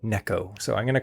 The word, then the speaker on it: Neko: And if you're like, it's pronounced Nico rig, I'm sorry, my friend. It's a Japanese technique, and the Japanese people, they pronounce it Neko.